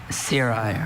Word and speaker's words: cirri: Cirri. Are there any alternate pronunciations?